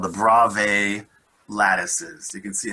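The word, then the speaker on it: Bravais: types of lattice structures and they're called the brave lattices you can see how it's spelled down here b-r-a-v-a-i-s brave lattices and here are the 14 basic types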